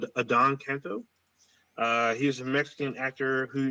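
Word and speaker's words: Adan Canto: So I believe his name is pronounced Adon Canto.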